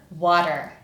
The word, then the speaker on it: water: If we look at this word phonetically, it's made of two syllables, and we're going to look at these syllables separately, so let's start with the first one, which is wa. This syllable is the strong syllable, and it's made up of two sounds, w, ah.